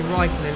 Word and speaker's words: Räikkönen: Robert Keeley, who's been in the previous videos, told me that is how you say Kimi Räikkönen. It's not Kimi Räikkönen, it's Kimi Räikkönen, or something like that.